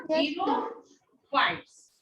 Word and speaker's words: xerophytes: XE को जीरो बोलते हैं ना, जीरो बोलते हो ना मैथ में, जीरो, तो ये इसको जीरो फाइट्स।